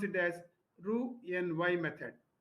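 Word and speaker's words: Roux-en-Y: Here x is silent when you pronounce it this must pronounce it as ru n y method.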